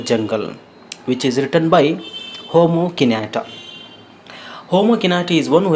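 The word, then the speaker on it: Jomo Kenyatta: You should not pronounce it as Jomo Kinata. It is to be pronounced as Homo Kinata.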